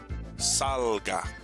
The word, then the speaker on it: salga: is on the end salga right second to the last in this case the first syllable gets the stress and here because it